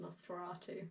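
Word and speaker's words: NOS4A2: I've just been informed this Joe Hill one is pronounced Nosferatu, so yeah.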